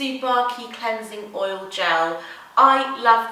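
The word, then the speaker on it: Tsubaki: Another product that unfortunately you can't buy in the UK unless you order from America is the Boscia, I think it's pronounced the Subaki Cleansing Oil Gel.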